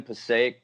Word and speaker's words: Passaic: Passaic, is that how you pronounce I it? was I was born in Passaic, but I grew up.